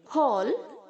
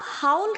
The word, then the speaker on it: haul: Okay, hates, hating, हॉल, हॉल्ट, हॉल्ट। इसको आप हाउल की तरह प्रोनाउंस नहीं करेंगे बच्चों, हाउल नहीं बोलेंगे, हॉल। HAUL जो है HOL की तरह साउंड करेगा, हॉल, हॉल्ट, हॉल्ट।